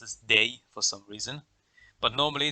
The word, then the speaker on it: dig: the word that looks like a dig is pronounced as day for some reason but normally the swedish word